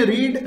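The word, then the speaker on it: read: जैसे इंग्लिश में रीड रेड, लिखने में दोनों भी सेम होते हैं, प्रेजेंट को जो है रीड पढ़ते हैं, पास्ट को क्या पढ़ते हैं, रेड पढ़ते हैं।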